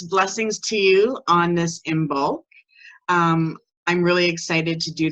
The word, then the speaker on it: Imbolc: A lot of people say it's also pronounced in the old ancient way, E-Molc, which is pronounced like double E-M-O-L-C.